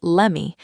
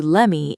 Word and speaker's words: let me: She pronounced it as lemme. Just like give me turns into gimme, the words let me turn into lemmy in fast casual speech.